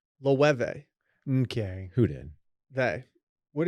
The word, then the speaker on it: Loewe: Louie. It's Lou. They pronounced it Loewe.